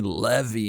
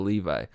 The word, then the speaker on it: Levi: get that it's like the same people who call me Levy instead of Levi huh who the [